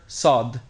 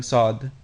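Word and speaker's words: صاد: This letter represents the emphatic counterpart or the emphatic version of scene. This and other emphatic consonants deepen the sound of the surrounding vowels, most notably al if and fata. Pay attention to the sounds of all vowels near these emphatic letters because the quality of the vowels gives the clearest indication of the emphatic consonants.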